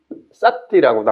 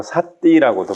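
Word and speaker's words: sati: 싸띠, 그 염자가 쌈마 앞에는 정 바르다는 뜻이고 그 싸띠라고도 하고 사띠라고도 발음을 하는데 이게 위파사나 하는 분들이 이제 싸띠라는 말을 많이 해요.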